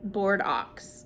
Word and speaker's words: Bordeaux: was Bordeaux, Ohio, but they didn't pronounce it like Bordeaux, France. It was like um board ox is how they pronounced it, which Ohio's very good at doing.